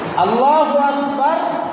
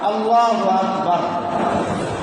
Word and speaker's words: আল্লাহু আকবার: নতুন যারা আসছেন তাদেরকে আবার বলে দিই, আল্লাহু আকবার, আল্লাহু আকবার। এই আল্লাহু আকবার রাকে সর্বাবস্থায় সাকিন দিয়া পড়তে হবে।